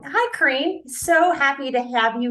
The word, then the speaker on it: Karine: see you again yes my name is Karine so it's a pretty difficult to pronounce because I'm French so it sounds a